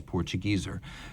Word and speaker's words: Portugieser: Portuguese is how it would be said in an English-speaking market. So neither one is wrong, but if you want the native pronunciation, it is Portugieser.